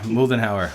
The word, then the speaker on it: Moldenhauer: like the m m moldenhauer like the molting hour o for a whales